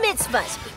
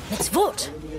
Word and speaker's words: mitzvot: Well, I know there are four mitzvahs. No, mitzvot. That's how you say it.